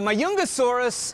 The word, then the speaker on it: Majungasaurus: newest skeletons okay uh this is majungasaurus or my youngest it's spelled with a j so i keep uh trying to put the j in there too but my youngesaurus lived at the same